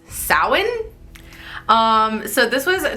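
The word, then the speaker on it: Samhain: Halloween started as an ancient Celtic tradition called sowin Salin it's it reads like Sam Hayne but it's pronounced Salin um so this was 2 000 years ago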